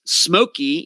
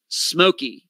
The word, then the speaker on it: Simolke: the disappearance of brennan's smokey even though it's spelled s-i-m-o-l-k-e it is pronounced smokey like s-m-o-k-y brandon smokey he disappeared